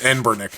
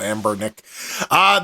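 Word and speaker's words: Anbernic: I keep trying to say the name wrong, but it's Enbernick, not Ambernick.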